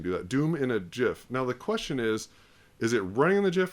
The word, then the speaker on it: GIF: okay so stop saying GIF it's not it's GIF like giraffe J okay we're done now